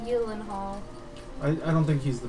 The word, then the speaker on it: Gyllenhaal: Also, apparently it's pronounced Gyllenhaal.